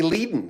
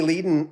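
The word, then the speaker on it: Leadon: bernie leaden said everyone you say bernie leiden because it reads like leiden of the of the eagles bernie ledin on the phone told me one day he says as long as they make out the checks they write out the right name i don't care glenn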